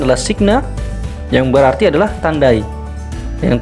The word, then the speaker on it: signa: Kemudian ada huruf S di situ, ya, dengan pengucapan adalah signa, yang berarti adalah tandai.